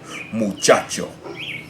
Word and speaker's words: muchacho: Muchacho. The natural stress is on that second to last syllable.